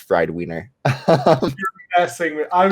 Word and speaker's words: FRDWNR: as well it's it's spelled frdwnr it's pronounced friday wiener so wait wait that's i'm not making that up it's actually pronounced fried wiener you're messing with i was like winner maybe